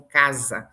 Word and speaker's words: casa: Então, casa é escrito com S, mas a pronúncia é Z.